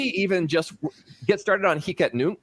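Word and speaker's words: Hic et Nunc: just get started on hika nuke which i have read is the proper pronunciation um transactions are extremely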